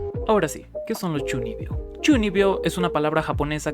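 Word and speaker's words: 中二病: Espera, ¿cómo se pronuncia? 12秒、 Hmm, 12秒、 Chuni, 12秒、 Chunibyo.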